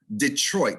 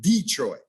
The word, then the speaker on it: Detroit: Detroit, not Detroit. When you say Detroit, you're hitting both syllables. Detroit, not Detroit.